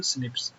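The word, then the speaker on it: SNPs: Basically single base DNA differences जैसे एसएनपी, single nucleotide polymorphism, pronounced स्निप्स, ठीक है।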